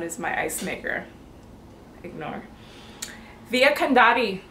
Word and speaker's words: Via Condotti: to look it up how am I gonna pronounce this can da T that sound is my icemaker ignore Via Condotti Condotti Condotti e is where we started off our